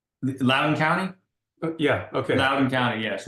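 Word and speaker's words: Loudoun County: the community that you were from how's it pronounced lden County yeah okay lden County yes well known they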